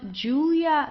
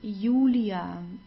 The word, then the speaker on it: Julia: and then we have the J which is pronounced like the English y so it's not Julia like in English it's Julia Julia okay Julia de